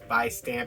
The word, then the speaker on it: Vistamp: vice stamper vi stamp by stamp it's like vi stamp but they kind of pronounce it with like a b sound so it's like by stamp but uh that's our